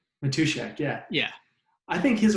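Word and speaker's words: Matuschak: and andy i i don't know how to pronounce his last name never met him personally matushak matushak yeah yeah i think his work is so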